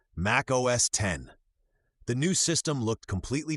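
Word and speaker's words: Mac OS X: In March 2001, Apple released Mac OSX, pronounced Mac OS 10.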